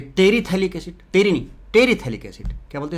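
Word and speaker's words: terephthalic acid: इसका जो common name होता है आइसोथैलिक एसिड, आइसोपैथैलिक मत बोलना, पी साइलेंट है, थैलिक, आइसोथैलिक एसिड। और ये टेरीथैलिक एसिड, टेरी नहीं, टेरीथैलिक एसिड, क्या बोलते हैं इसको, टेरीथैलिक एसिड, TERE होता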